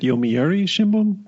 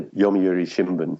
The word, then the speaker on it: Yomiuri Shimbun: 96 period how long did you work at Yomiuri Schumann I think I said it wrongly the first